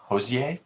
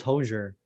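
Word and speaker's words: Hozier: it's definitely jose um that's how you say his name josie i think so i thought it was hosier i'm like i might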